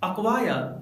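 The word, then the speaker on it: acquire: Friends, जब letter सी के बाद के या क्यू आता है तो लेटर सी साइलेंट होता है, जैसे अक्वायर अक्नोलेज। इन दोनों वर्ड्स में लेटर सी के बाद के या क्यू आया हुआ है, इसलिए यहाँ पर लेटर सी या के साइलेंट है।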